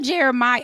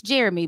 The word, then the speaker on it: Jeremih: And I remember this singer, Jeremiah. I had to look it up how to say his name. It's Jeremy, but it's spelled Jeremih.